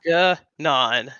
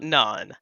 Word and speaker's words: Ganon: Um, Ganon has a hard G. So that is gnan, not naan.